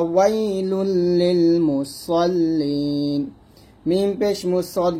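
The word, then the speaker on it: المصلين: এখানে সদের উচ্চারণটা যেন কোনো ভাবে সিন না হয়ে যায়, এটা সদ মোটো করবেন ফাওয়াইলুল লিল মুসাল্লিন।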